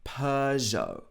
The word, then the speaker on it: Peugeot: Again, not the French pronunciation, but if we're making it English, we say Peugeot.